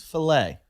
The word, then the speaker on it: filet: Fillet of beef, yeah. But it's a French word. It's filet.